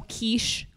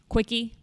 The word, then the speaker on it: quiche: Dove it covers and then what else Oh quiche quicky quicky that's how they pronounced quiche they had no idea that the